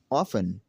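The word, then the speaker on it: often: तो नाज़रीन हमारा रूल नंबर 13 है, वो ये है, अगर किसी लफ्ज़ के आखिर में TEN हो तो T हमेशा साइलेंट रहेगा।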